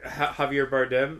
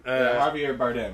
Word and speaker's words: Javier Bardem: Javier Bardem. Javier Bardem.